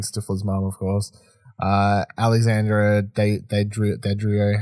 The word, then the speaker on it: Daddario: Alexandra Daddario, how do you say her name? Daddario, yeah.